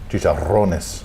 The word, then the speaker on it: chicharrones: Yeah, but the R's. Is that what it is? Yeah. How do you say it? Chicharrones. Chicharrones. Chicharrones. Chicharrones. It's the R. Rones. It's so romantic. It's only like romantic language. It's only like a couple R's, but chicharrones.